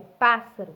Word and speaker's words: pássaro: Porque se fosse escrito com S, ficava pássaro. Mas não é, né? É pássaro, com dois S.